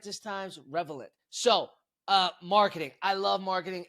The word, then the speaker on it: Revelant: Revelant, I said it right this time, Revelant.